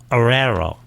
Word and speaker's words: Oreiro: And our first guest, of course, is Aerero. Oh, I got it right. It's a tough name to pronounce.